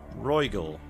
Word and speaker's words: Regal: The last thing we did was told us that we needed to go to Senegal or Regal. Regal, that's how you say it.